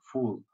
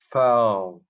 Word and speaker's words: foul: A small table was stacked with volumes such as Predicting the Unpredictable, Insulate Yourself Against Shocks and Broken Balls, When Fortunes Turn Fool.